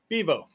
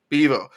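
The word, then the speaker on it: Bevo: very particular about this but how do you pronounce the name of y'all's mascot y'all's live mascot bivo bivo yeah I think when bivo went after ugga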